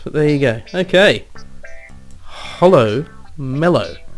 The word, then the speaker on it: Hollow Mellow: Hollow Mellow. When I was first pronouncing this name, I read it as Hollow Metal. And I was thinking, oh, Hollow Metal.